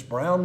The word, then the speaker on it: Broun: p-a-u-l o u n it's brown with the u instead of a w in fact lanier when